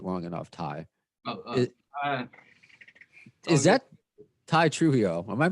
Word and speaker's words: Tye Trujillo: made you wait long enough thai is that ty trujillo am i pronouncing that right by the way that's correct